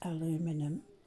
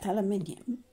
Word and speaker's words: aluminium: was i needed aluminium aluminium we say in australia americans say aluminum so aluminium and eyes because ice